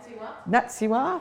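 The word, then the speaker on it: NATSIHWA: Oh, NATSIWA, thank you.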